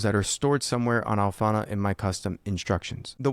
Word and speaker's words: Alphana: It thinks that we spell it Alfana, but really it's Alphana.